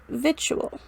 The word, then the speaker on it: victual: Though the differences seem little, we say actual but victual.